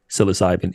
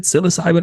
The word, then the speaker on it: psilocybin: Is it psilocybin or psilocybin? I heard you. I'm like, let me make sure I'm saying it correctly. Have I been saying it wrong? No, man, it's either. It's kind of like tomato.